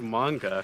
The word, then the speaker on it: manga: time as he did in the manga say manga yeah oh i'm sorry i don't pronounce it with a o cause that's not how it's felt it's pronounced manga no if you pronounce then why is it